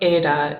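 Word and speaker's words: η: how to pronounce these so ada is the a sound here's the thing um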